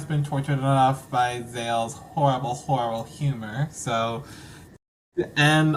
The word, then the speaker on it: ZAYLE: And if you guys need to figure out how his name is pronounced, just go listen to the terrible, terrible singer Gayle, which you can listen to her song with A B C D E F U. You listen to Gayle, remove the G, and put the Z in it.